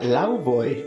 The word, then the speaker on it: Laufey: De hecho se pronuncia Laufey y no es padre, es la madre de Loki.